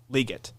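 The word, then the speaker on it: Legette: fan, and he's like, it's actually like Liget. So maybe he's just mispronouncing his own name. Yeah, I think that's what's happening. Possibility. Because I would just go Xavier Leggett.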